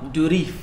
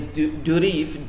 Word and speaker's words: Durif: So there was a guy in France, a Frenchman named Francois Durif. Ooh, listen to your French. Is that how you say it? I don't Probably. know. Probably. I'm assuming. But his name is Durif, D-U-R-I-F, Durif, Durif.